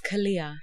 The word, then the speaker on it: Khalia: Khalia, yeah. That's how you pronounce it. Okay. Yeah. Khalia. I get Khalia. different variations. I've had Khalia, Khalia. So yeah. But it's Khalia.